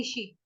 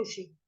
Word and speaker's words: ऋषि: आपको सिखाया था कि जैसे हम हिंदी में बोलते हैं री से ऋषि, है ना, संस्कृत में होता है रू से ऋषि, संस्कृत में री नहीं होता, रू का उच्चारण करते हैं हम लोग, तेषामहं समुद्धरता, मृत्यु, मृत्यु